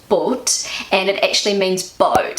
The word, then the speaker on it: Boot: and in German but it's pronounced short but and it actually means